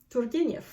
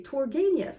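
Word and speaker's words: Turgenev: Turgeniev.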